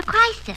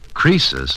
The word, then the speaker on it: Croesus: He's a regular Crisis. A what? Don't you know, Mr. Holliday? Crisis was a rich king. Oh, don't you know, Susie? Croesus, not Crisis, was a rich king.